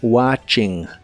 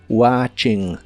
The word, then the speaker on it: watching: como viendo la televisión la t de esta palabra no se pronuncia solo watching watching y usaremos la frase